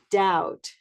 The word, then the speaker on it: doubt: Doubt, doubt, brown cow doubt.